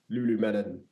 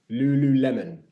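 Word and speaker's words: Lululemon: um likewise we have to talk about Francis Lulu melon L said it right Lulu Lemon I thought he no the reason why I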